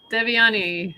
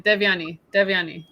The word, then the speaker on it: Devyani: Welcome, Devyani. I said it wrong again. Devyani. Yeah. Devyani.